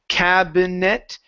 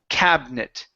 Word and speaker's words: cabinet: okay this word here we actually skip over the I there in the middle so instead of saying cabinet it's cabinet cabinet cabinet good so um we're